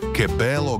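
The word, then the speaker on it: Che bello: Chebello. Aké krásne. Vyslovuje sa kebello.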